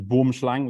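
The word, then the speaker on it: boomslang: uh this is a boom slang the proper pronunciation in Afrikaans is Boom shlang which means tree snake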